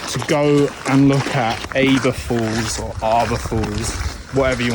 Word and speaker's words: Aber Falls: We decided to go to Aber Falls. What are we doing today? Not too sure. What are we doing? Exploring. Jeez. Guys, we're at Aber Falls. You could say it rhymes with April Fool.